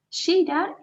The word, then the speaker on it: cheirar: Cheirar significa oler, ¿sí? Fíjense cómo se pronuncia la CH. Cheirar, ¿sí? Como cuando decimos cachaza. Tiene que estar bien sutil.